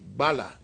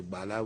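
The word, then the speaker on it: Gbala: We also have another Bai Bala, that's B-A-I, and the last name is spelled G-B-A-L-A, Bai Bala.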